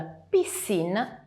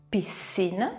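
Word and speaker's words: piscine: in questa maniera qui se invece troviamo s come nella parola Pissin che significa piscina ebbene leggeremo Pissin come se ci fosse s ricordiamoci però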